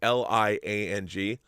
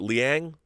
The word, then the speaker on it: Liang: woman named roseanne lang i think it's how you pronounce the last name l-i-a-n-g or is it liang roseanne liang i'll call